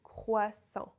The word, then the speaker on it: croissant: First of all, the letters O and I together always make the sound wa in French. It's not oi, it's not ou, it's wa, just wa.